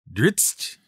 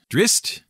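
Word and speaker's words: Drizzt: over the years should have come with a pronunciation guide. It really would have made things so much easier. Dritzt, drist, dritz.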